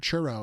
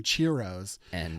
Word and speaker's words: churro: in Florida and he does not know how to pronounce the word churro and he calls them cheros and so we made